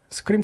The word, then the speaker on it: SQream: 스크림이 뜻은 그냥 그 비명을 지르다 스크림 있잖아요. 네네. Make data some scream. 사람이 비명을 지를 만큼 놀라운 성능을 가진다. 놀라운 성능을 낸다. 아니 그러니까 발음이 스크림 그건데.